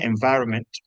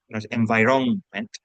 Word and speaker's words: environment: men hay una n Aunque realmente parece que no suena la pronunciación environment environment hay que escribirla as